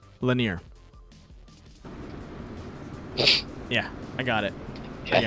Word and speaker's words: Lanier: Can you pronounce the name of the track again, please? Yeah, it's Lanier.